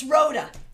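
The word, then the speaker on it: Rhoda: birthday very good hey Ronda so good to see you thanks for being here I'm new here everyone it's Roda everyone welcome Roda sorry I mispronounced your name thank you so much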